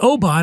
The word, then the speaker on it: Oban: It's not Oban. It's not Oban. It's Oban. So what I do, rather than say, you fucking idiot, you would say, oh, I like Oban.